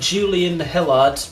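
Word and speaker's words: Hilliard: playing the two boys and jets klein and julian hillard yeah that's how you say it they both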